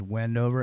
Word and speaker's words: Wendover: name of the town's Wendover and I'm tell you right now it rhymes with bendover because you're not going